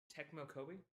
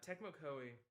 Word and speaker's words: Tecmo Koei: of calamity was that i always mispronounced their name uh tecmo kobe yeah uh tecmo koei i like and hate them